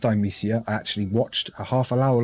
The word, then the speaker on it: Thymesia: Sometimes it just goes through my head because in Thymesia, and it is pronounced Thymesia, I actually watched a half-hour long developer live stream just to get that right.